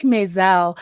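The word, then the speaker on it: Maas: Oh, like mess. Right, exactly. M-A-A-S. Oh, interesting.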